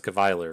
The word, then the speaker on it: Chevalier: If you want to stop and pronounce this, it's Ke, C-H-E, Va, V-A, and then liar. So it's Cavalier, right?